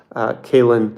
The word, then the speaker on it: Caolan: But normally I forget these things after, so just type in Caelan, spelled Caolan.